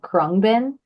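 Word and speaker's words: Khruangbin: I am utterly obsessed with this band called kbin um I'll spell it for you it's KH r u a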